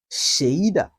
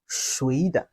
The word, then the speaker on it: 谁的: I will say that whose have two pronunciation methods, which is shéide and shuide.